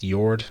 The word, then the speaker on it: Jord: and i think it's probably pronounced jord not george like i was saying before so let's dive into